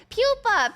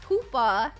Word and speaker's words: pupa: Pupa. Pupa. Like a like a larvae. Pupa. That's That's what it means. Yeah. Not not pooa. Not pooa. Not pipa. Pupa. That's how you say it.